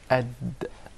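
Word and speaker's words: د: The Dal is pronounced from the top side of the tip of the tongue and the gum line of the two front upper incisors.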